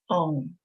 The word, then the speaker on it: Om: best way to pronounce Om and how it should be done during meditation. So it sounds exactly the way we say it, Om, as if it were OM, and we write it that way.